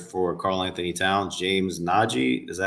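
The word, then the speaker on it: Nnaji: they they acquired for Carl Anthony Towns, James Naji, is that how you pronounce his name? Correct. Yeah. Naji.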